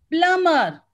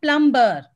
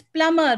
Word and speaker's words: plumber: screen quickly it's horizon plumber not plumber it's plumber b is silent menu data data name